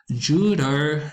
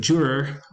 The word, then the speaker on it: juror: alveolar tap sounds so Spanish speakers learning English might say Judah instead of Juror with the retroflex r in English for the word juror which is spelled